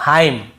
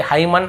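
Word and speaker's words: hymn: पहले एम आता है एम एन एक साथ हो तो हमें हमें वहां क्या करना है एन को नहीं पढ़ना है जैसे ऑटम कॉलम डैम और हाइम तो यहां पे हमें ऐसे ऑटम कॉलमन डैमन ऐसे हाइमन ऐसे नहीं पढ़ना है ठीक है क्लियर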